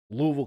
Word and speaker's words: Louisville: Okay, if you're up in Kentucky and you say Lewisville or Louisville, everybody up there will get all upset with their accent and be like, "It's Louisville. Louisville, Kentucky."